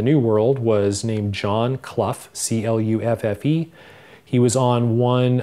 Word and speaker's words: Clough: You pronounce your surname Clough. Yes, I do. In England, it would be Clough. Where's your family from originally? I am told France, specifically Normandy. The name was originally pronounced Clough. In fact, it was spelled C-L-U-F-F-E.